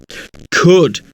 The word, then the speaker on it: could: Could, flower, sour, hourly. But the word could sounds completely different from flower, sour, and hourly.